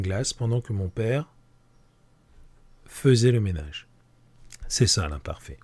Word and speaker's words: faisait: On le prononce faisait, mais il s'écrit faisait.